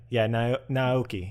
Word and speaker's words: Naoki: Naoki.